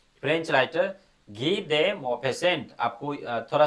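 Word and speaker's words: Guy: इसको गाय नहीं पढ़ना है। फ्रेंच राइटर में जैसे हम लोग बोलते हैं गाय उस तरीके से नहीं पढ़ना है। घी देसेंट इसको जो है सो फ्रेंच में हम लोग उस तरीके से प्रोनाउंस करते हैं।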